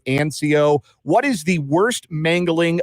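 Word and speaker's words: Ancoux: for you will uh a n c Au ux is how you spell your last name it is pronounced anco what is the worst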